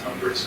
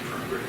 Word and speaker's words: Tunbridge: I say it wrong. It's Tunbridge, not Tunbridge.